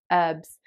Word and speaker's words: herbs: know food bloggers say herbs where they don't pronounce the initial h in the same way